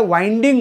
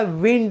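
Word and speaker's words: wind: गुंडाळणे okay आपण ज्याला वाईडिंग म्हणतो त्याची स्पेलिंग सुद्धा हीच आहे पण जेव्हा तुम्ही तो शब्द वारा म्हणून घेताय तुम्ही त्याला विंड म्हणा वाईंड म्हणू नका सो बऱ्याच वेळा काय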